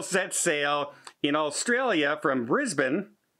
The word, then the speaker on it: Brisbane: I said it correct, Brisbane, for all the emails when I said Brisbane. But if you look at the way it's spelt, boy, it sure looks like it should be said Brisbane, doesn't it? If you don't know, and I'm not from there, so I didn't know, but it's Brisbane there.